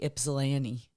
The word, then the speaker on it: Ypsilanti: I read and said correctly Ypsilanti. There you go. That's a good That one. one's That's that tough. one's not bad. Yeah, if you know, Ypsilanti, it can be.